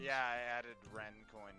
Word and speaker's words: Rien: It's Ren. R-I-E-N. Yeah. Reen. Well, it's Got it.